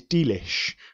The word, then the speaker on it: delish: of the word delicious rather than have three syllables let's chop it down to two syllables let's put the stress on the opening D which wouldn't normally be stressed in poetry we would describe that as a spondee because it has two stressed syllables delish creative expression of